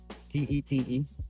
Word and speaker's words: Tet: T E T. What is the correct pronunciation?